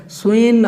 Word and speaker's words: स्वेन: स्वेन जो है स्वेन आपको पढ़ना है।